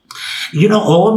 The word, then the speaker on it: Om: Om is made up of 3 syllables. A, U, and Ma.